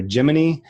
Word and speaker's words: Gemini: were single occupants in the capsule mm-hmm then Gemini Gemini or Gemini as they like to make sure it's pronounced had two pilots astronaut occupants and then